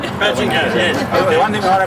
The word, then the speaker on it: Badgingarra: Just remember, it's pronounced Badgingarra. Badgingarra, yes.